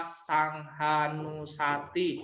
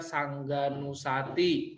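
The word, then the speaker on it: saṅghānussati: salah satu contoh kalau kita membaca sanghanusati Nanti dibaca Sangga nussati bacanya bukan sangha jadi kita nanti belajar di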